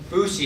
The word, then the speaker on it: Foosye: I appreciate the introduction fousi is pronounced f o SE and it's taken from the words food system fousy is the market